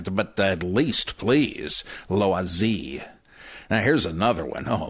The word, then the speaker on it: Loisy: Seminar, well, as Alfred Loisy said, oh, that's Loisy. L-O-I-S-Y, Loisy. I don't expect you should try to do a French accent, right? But at least, please, Loisy.